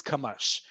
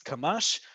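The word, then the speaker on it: קמש: And with kilometer comes kamash. This one we do pronounce, kamash.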